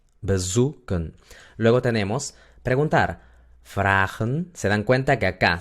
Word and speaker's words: vragen: Se dan cuenta que acá, si yo divido el verbo vragen en dos, se convierte en fra y luego gen. Quiere decir que la primera sílaba termina en A, por lo tanto la A es larga, es abierta la sílaba. Por eso se pronuncia fragen, no fragen.